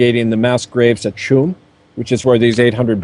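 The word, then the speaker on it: Tuam: based right in the town of chum uh and by the way that's the Gaelic pronunciation is spelled Tua M but Chum in uh in case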